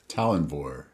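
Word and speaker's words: Tallanvor: Can you pronounce this name for me, Todd? Talenvore.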